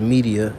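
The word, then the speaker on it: Medea: that up real quick this is media it's spelled m-e-d-e-a in greek mythology which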